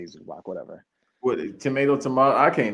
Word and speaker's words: Zubac: It's Zubats, but we say Zubac, whatever.